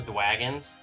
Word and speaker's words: Dwagons: Yes, I'm not mispronouncing that. Here, I even got their card right here. Literally called All the Dwagons. I literally kept it with the bag, so. All the Dwagons. See, it's a W, not an R.